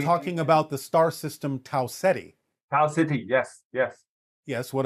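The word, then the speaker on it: Tau Ceti: Can you spell it? Uh T A U C E T. You're talking about the star system. Taetti.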